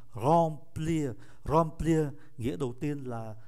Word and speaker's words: remplir: Em ở đứng trước P, phát âm là N, remplir.